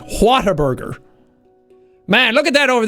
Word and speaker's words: Whataburger: it's just Whataburger Whataburger I know for some people pronounce it it sounds like Water Burger like ooh I love water in my Burgers so it's just like man what a burger look the H is an important letter you know it has a lot of when you when you pronounce it properly h has a lot of like oomph to it it's a it's just a such a forgotten letter in the English alphabet